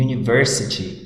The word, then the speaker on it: university: Notem aí que university inicia por uma vogal, tá? Mas no inglês a pronúncia dela, ela tem um som de uma semivogal, no caso um Y, né?